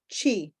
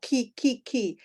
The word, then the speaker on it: chiamo: Some people said chi, mi chiamo, right? And this is, you are reading this in Spanish, mi chiamo. This is mi chiamo, ki.